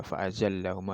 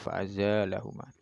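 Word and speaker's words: فأزالهما: Sebagian qiraat ada yang membacanya fa'azalahuma. Tidak ada yang membaca fa'azallahuma, ada yang membaca fa'azalahuma.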